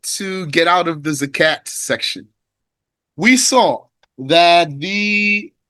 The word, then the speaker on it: zakat: We are just about to get out of the zakat section. We saw that the zakat you can pronounce it with a t you can pronounce it with a h zakat when you stop.